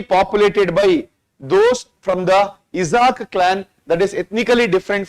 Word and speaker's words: Isaaq: Isaaq, I-S-A-A-Q.